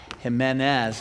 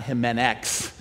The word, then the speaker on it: Jimenez: It's not, yeah, it's not a Z, or it's not an X at the end. Come on up, come on, come right here. Yeah, it's Jimenez, not Jimenex.